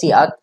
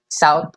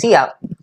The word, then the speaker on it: cout: this is pronounced as cout, this is not pronounced as sout or whatever, it's pronounced as cout.